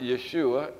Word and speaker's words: Yeshua: write down Jesus means we pronounce it Yeshua in Hebrew Jesus means God is